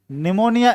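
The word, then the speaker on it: pneumonia: निमोनिया एन से शुरू नहीं होता, पी से शुरू होता है। जैसे साइकोलॉजी पी से शुरू हो, साइकोलॉजी एस से नहीं बल्कि पी से शुरू होती है, तो ये पी साइलेंट है।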